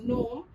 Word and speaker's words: genome: Genome is pronounced as gnome, where G remains silent.